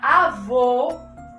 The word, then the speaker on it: avô: Enquanto na palavra avô, eu tenho um som mais fechado.